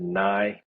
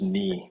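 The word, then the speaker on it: Kniii: Some people have pronounced it Niii. Sounds Really? stupid, but it's just knee with three eyes, and there's not really like a unique story.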